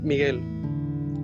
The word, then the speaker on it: Miguel: get it wrong um it's like the you it's it doesn't pronounce that because since it's spanish so i don't know h is silent so i was like